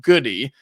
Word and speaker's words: Goode: reached out immediately and he's interrested immediately Luke goody from Illinois and yes it is pronounced goody g o o d e not good it's Luke goody uh he is a three-year player at Illinois